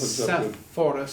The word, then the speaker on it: Sepphoris: No, not the same as Sophet, but it's Sepphoris. Sepphoris. Sometimes you see it spelled with two P's and a P followed by a PH.